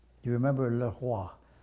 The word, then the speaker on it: Le Roi: Then I said, do you remember LeRoy? LeRoy is the way my name is pronounced in French, the king. And he said, LeRoy.